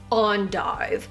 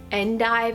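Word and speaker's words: endive: was this big acid on dive which I learned in a job of mine that it's not and dive it's supposed to be pronounced on dive so the baby is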